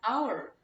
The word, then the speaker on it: hour: But when any consonant sound be uttered like vowel, it must be an, like a house, but an hour. Hour is pronounced like vowel sound.